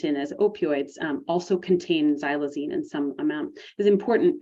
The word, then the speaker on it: xylazine: since the pandemic and xylazine is the way that it's pronounced that X is pronounced as a z so xylazine is a Veterinary sedative